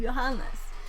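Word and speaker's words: Johannes: he he says oh if you don't know how to pronounce my name johanes it's like your highness so that's why I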